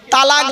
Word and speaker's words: তলাক: গিয়ে স্বামী তার স্ত্রীকে তালাক দেয় তাই না আরে ভাই বলুন না শব্দটা কিন্তু তালাক নয় শব্দটা তালাক বলবেন না কেউ শব্দটা হলো তলাক কি বললাম তলাক ওর